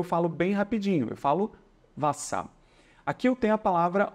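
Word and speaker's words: Wasser: consoante duas vezes e elas servem apenas para fazer com que a vogal que antecede seja pronunciada de maneira curta Ou seja é um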